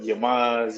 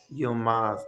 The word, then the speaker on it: Yılmaz: that, so I'll accept Yamuns, Yilmaz, just because a lot of people they look at my name and they try to say it, but it's nothing how it's spelled. Yılmaz.